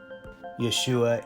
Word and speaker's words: Yeshua: is Arabic for Yeshua Yeshua is G Hebrew pronunciation for the word of Jesus this relief of Jesus